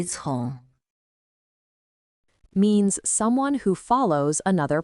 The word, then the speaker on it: 从: Its pronunciation is 从 it's made up of two characters, 人 but it doesn't simply mean two people.